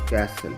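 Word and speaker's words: castle: दे सकते हैं कि यहां पर टी की साउंड जो है ट मी इसकी साउंड जो है बिल्कुल silent एपोसल कैसल सी ए एस टी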